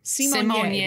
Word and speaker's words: Symoné: Although I did just mispronounce her last name. Symoné.